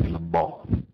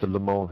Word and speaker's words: Le Mans: Le Mans. That's how they say it. Le Mans. Not Le Mans. You've got a Pontiac Le Mans, call it a Pontiac Le Mans. If you come here, call it Le Mans.